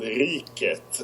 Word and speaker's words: Riket: it's hard uh it's in Swedish it's called ret uh but ret is it's it's close enough